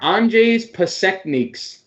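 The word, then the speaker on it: Anžejs Pasečņiks: I have the pronunciation here in front of me. It's the Washington guy? Andrzej Pasekniks. That's his name. But he played that because I would have never gotten there. Andrzej Pasekniks.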